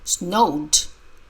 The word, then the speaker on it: snowed: the best of snow snowed the Ed sounds like d okay it's node node